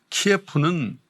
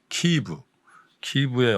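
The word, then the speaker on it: Київ: 그 화면으로 이렇게 보여지는 그 우크라이나 키예프는 원래 러시아식 발음이랍니다. 그게 키이브의 어떤 그런 모습들을 보니까 저희 부모님 세대 그런 생각들이 좀 많이 나더라고요.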